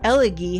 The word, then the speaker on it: elegy: Elegy has a soft G.